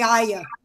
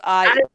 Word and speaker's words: Arya: It's supposed to be 2 syllables. Arya.